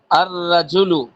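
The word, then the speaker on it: الرجل: যুক্ত করলে হইতেছে কি আর রাজুলু কিন্তু লামটা স্পষ্টভাবে উচ্চারণ হইতেছে না এটা হইলো আরবি নীতিমালা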